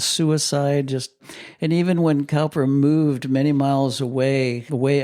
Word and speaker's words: Cowper: Some people pronounce it Cooper. I'm going with Alister Begg. He should know. He said it's Cowper so I'm sticking with him but he was Cowper's pastor for a long time.